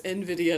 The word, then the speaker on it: Nvidia: say Nvidia because because if I'm pronouncing the word I get that it's envidia and I know why